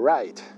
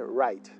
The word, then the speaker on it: right: en español your right Observa que no pronunciamos la ghd right right se pronuncia igual que escribir en inglés right se pronuncia igual que write escribir en inglés son palabras homófonas se escriben distinto pero se pronuncian iguales estás en lo correcto